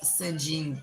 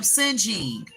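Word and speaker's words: Ceng: I mean, like, his name is spelled C-E-N-G. It's the comment from 1025. But it's like Sinj. So I was calling him Sinjing.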